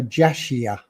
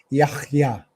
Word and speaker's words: Yahya: So it should be pronounced Yahya, Yahya, which to the Western ear will sound like Yahya, Yahya, Yahya.